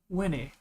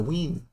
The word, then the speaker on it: Wene: Like a, It's spelled WENE. Oh, okay. um, Like a ween. Oh, like a child. It's W-E-E-N. Yeah, makes the same phonetic.